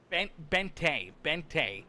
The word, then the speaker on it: Bente: iRacing, our official, getting a great look at it here as it's pronounced Bente. Okay, so the E is actually pronounced, and it's A-Y. Okay, that's good to know. Brody Bente, okay.